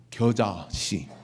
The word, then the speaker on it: 겨자씨: 때 제일 적은게 뭐냐면 계자씨. 계자씨.이 계자씨란 발음을 경상도 사람 하면 안 돼. 겨자씨.